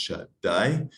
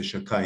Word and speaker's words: Shaddai: And the two words are Shagai, Shin Dalet Yud, pronounced Shaddai. It's because it's like saying Hashem's name, so sometimes people say Shakai instead of Shaddai.